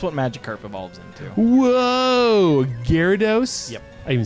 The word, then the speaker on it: Gyarados: wives tale that's what Magikarp evolved into whoa Gyarados I even said it right a hero DOS people pronounce it Angie Radha DOS hero dose or gyro dose gyro dose like no it's Japanese and there